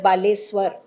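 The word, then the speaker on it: ବାଲେଶ୍ୱର: be changed for example Balasore will be changed to बालेश्वर pronounced S बालेश्वर आली एस यू ऑल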